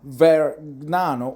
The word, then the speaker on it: Vergnano: pronunciation is very Nano ver Nano almost g is silent very Nano opened a small Workshop